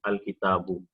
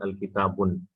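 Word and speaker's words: الكتاب: this will go and it will be pronounced as al kitabu. So here, if you notice, I'm not pronouncing al kitabun, because alif lam and tanween cannot coexist. As soon as alif lam comes, tanween says I'm going, I'm leaving.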